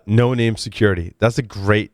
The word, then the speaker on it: Noname: There's obviously some of the 8200 unit involved in this acquisition, so I highly doubt it's pronounced Noname. It is no name.